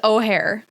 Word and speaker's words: Ojer: I did learn about saying it is O'Hare. O'Hare Pakpatik.